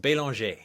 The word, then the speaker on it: Belanger: then I thought about my last name it's banger but over there it's pronounced belong right it is a French name even though my family's